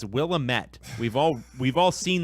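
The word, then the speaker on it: Willamette: willit it's not will it's not will Amit all right you freaking oregonians it's willamet we've all we've all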